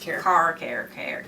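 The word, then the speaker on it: CAIR: It's pronounced CARE.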